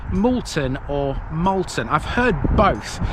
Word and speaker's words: Moulton: until last welcome to Molton and yes that is how to pronounce it because it derives from the word mule this was literally a